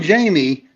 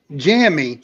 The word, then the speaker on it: Jamie: who keeps calling Jamie Jammy. Jammy. No matter how many times we say her name is Jamie.